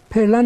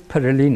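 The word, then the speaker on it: Pèlerin: Society که الان پرلن، حالا پرلن رو در فارسی میگن ولی تلفظش پرلین هست، Mont Perlin Society، حالا در فارسی میگن مونت پرلن.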